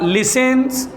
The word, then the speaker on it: listens: Behind the कार लिसेंस, LISTENS, जिसका T silent होता है, बचपन में पढ़ा होगा।